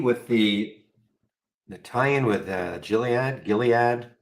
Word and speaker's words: Gilead: the nalian with gilad Gilead never never remember hard G soft G somebody told me that a while ago just